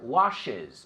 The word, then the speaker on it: washes: My sister washes. ¿Ves? Hay dos sílabas.